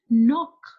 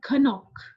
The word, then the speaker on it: knock: say knock it in we will not say Kanak it's a word knock and this is started with W but we spell it or we say it wrong why you will not say the sound of K here and in this